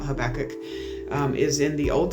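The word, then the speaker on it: Habakkuk: So, um just the the book of Habach, and some people pronounce it Habacook, but I've always been taught Habachok.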